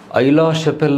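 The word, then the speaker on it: Aix-la-Chapelle: ಐ ಲಾ ಶಾಪೆಲ್ ಅನ್ನೋದು ಒಂದು ಸ್ಥಳದ ಹೆಸರು, ಆಸ್ಟ್ರಿಯಾದಾದ. ಇಟ್ಸ್ ಅ name of ಎ place ಅಷ್ಟೇ, ಒಂದು ಸ್ಥಳದ ಹೆಸರು. ಐ ಲಾ ಶಾಪೆಲ್ ಅಂತ ನಾವು ಉಚ್ಚಾರ ಮಾಡ್ತೀವಿ.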